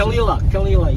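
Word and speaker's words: Caol Ila: How do you pronounce it? Caol, yeah.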